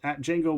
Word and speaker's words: Django: x l r uh that is how it is spelled Jango Wexler on Twitter SLX also Jango Wexler bsky